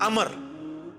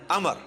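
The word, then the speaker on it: عمرو: लफ्ज ही गलत है लज उमरू तो कोई लफ्ज ही नहीं है लफ्ज है अमर लिखा होता है उमरू लेकिन उसका मतलब वाओ जो है वो साइलेंट होता है और वाव का मतलब यह है कि आपने इसे पेश की बजाय जबर से पढ़ना है उमर की बजाय पढ़ना है अमर तो हजरत अमर बिन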